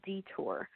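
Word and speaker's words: DeTUR: Yeah, probably the most popular and common one is is called detour and that's spelled dur.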